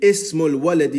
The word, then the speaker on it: ismul waladi: This first letter is called Hamzatul Wasl. We do not pronounce it unless it comes in the beginning of a sentence.